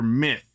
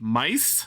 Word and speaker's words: Myth: So, first impression is that it was common rider myth. But apparently it's supposed to be pronounced like mice.